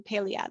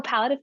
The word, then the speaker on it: palliative: don't worry um how is it related to paleoad of care that's how you pronounce it sorry oh palliative care yeah yes that one um yeah so